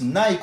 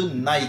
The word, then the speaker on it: Nike: chaud tout est là où l'on prononce nike en france les anglais auront plutôt tendance à parler de nay qui est en effet